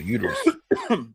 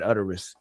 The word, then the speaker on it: uterus: Uterus. You said utterus.